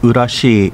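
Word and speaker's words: 浦添: Urasoe City, pronounced Urashi in Uchinaguchi, is known for Urasoe Castle, which was the original capital of the Ryukyu Kingdom until it was moved to Shuri.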